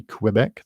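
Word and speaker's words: Québec: that is quebec which if you've ever spoken to a french canadian they don't say quebec they say quebec or quebecois quebec as in i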